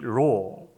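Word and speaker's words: לא: 이 아니하고는 로라는 히브리어의 말입니다. 이 로, 우리나라 뜻이 이 발음이 이렇게 납니다.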